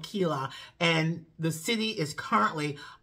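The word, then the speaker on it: Keilah: way to kakila uh is spelled um k-e-i-l-a-h uh Kila in the Hebrew it is Kila uh Kayla I believe k-e-h-e-e-l-e-w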